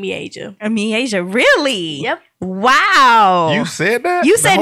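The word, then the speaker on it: Miaja: My first word was my sister's name, Mieja. Asia, really? Yep. Wow. You said that? You The said whole me name? Asia? Mieja. Yep. Wow. Her So name she is Mieja.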